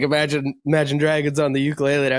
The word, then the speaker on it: Imagine Dragons: But they played an Imagination Dragons. I'm saying it wrong. I've been saying it. I know it's Imagine Dragons.